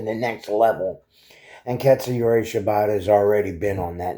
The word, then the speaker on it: Shibata: And then we go into the For the World Championship match between Chris Jericho, Hook, and Katsuyori Shibata.